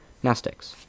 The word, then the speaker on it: Mnestics: Mnestics, Class W, X, Y, and Z. Same Greek root as the word mnemonic, the M is silent.